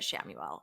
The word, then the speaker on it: Chamuel: The Hebrew origin is spelled Khamuel, Chamuel, and we say it Chamuel, or you can say it however you like I said.